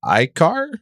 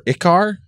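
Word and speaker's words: Ichar: I think it's pronounced icar or ikar i-c-h-a-r I think it's a car yeah I mean four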